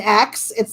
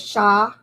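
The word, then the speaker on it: Xia: And if it's like an X, it's like pronounced like sh, like should, like so like sh. X-I-A is Sha, not Xi, or just a fun fact.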